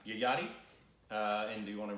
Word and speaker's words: Yayati: It's called, want to pronounce that? Yayati. Yayati.